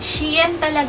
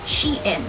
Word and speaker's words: Shein: you come at me sheen pronunciation according to my research that says it's pronounced as she in so the reason why